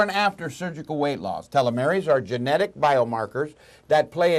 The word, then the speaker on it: telomeres: as people age or have chronic disease their telomeries become shorter is that right pronunciation yes perfect of Stanford University researchers presented